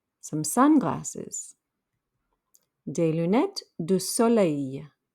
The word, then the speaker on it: soleil: sunglasses de lunette du soleil that last l makes a y sound the e i l makes a y sound de lunet du soleil a tie in now